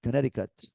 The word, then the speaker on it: Connecticut: is here oh lovely Connecticut listen and repeat Connecticut no no don't read this this is confusing Connecticut this is Connecticut okay in New York it's Connecticut all right Connecticut now we're talking can